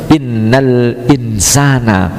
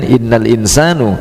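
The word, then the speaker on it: إِنَّ الْإِنْسَانَ: akan menasabkan isimnya Inna makanya membacanya harus Innal insana tidak boleh dibaca dengan Inal insanu Inal Insani enggak boleh harus menggun fungsinya dalam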